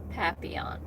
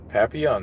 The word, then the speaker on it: Papillon: It is pronounced Papillon. Papillon, that's right.